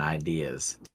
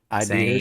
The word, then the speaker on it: ideas: But like people that put an R in ideas, Idears? same ideas are the same people that say maturing, and I've never or- understood the idears thing. I don't either because like I can understand mispronouncing maturing because of like how you emphasis, right? Yeah, But adding the letter R, doesn't ideas. doesn't make any sense, bro.